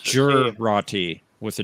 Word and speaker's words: Jurati: Which is It's pronounced the same. Jurati with a J.